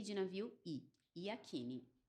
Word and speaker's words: Yakini: n de navio I yakini yakini gente da maneira como se lê da maneira como se lê exato vou agradecer mais uma